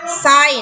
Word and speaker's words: สร้อย: ว่า ชาว นะ คะ สร้อย อ่าน ว่า soy นั่น เอง ค่ะ